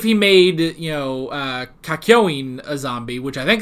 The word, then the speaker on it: Kakyoin: made you know uh kakyoin a zombie which i think that's how it's pronounced kakyoin uh which i think i was putting in an extra n last time so it's kakyoin i think with kakyoin